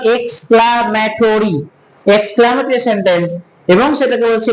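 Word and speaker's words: exclamatory: ওকে, কেউ উচ্চারণ করবো না এক্সট্রামোটরি, that is not called এক্সট্রামোটরি, that is called এক্সক্লামেটরি, এক্সক্লামেটরি sentence.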